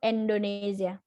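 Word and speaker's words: Endonezya: Turkinya Indonesia artinya e bahasa Turkinya Indonesia itu endonesya dibacanya Indonesia deh Indonesia jadi kotanya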